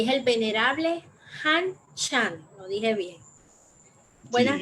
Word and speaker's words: Han Shan: ¿Cómo se pronuncia el nombre? Porque yo en eso soy un poquito venerable. Han Chan, así se dice.